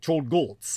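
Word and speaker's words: Czolgosz: Like Cholgots, and in this case it's spelled CZOLGOLZ, basically, like Cholgots.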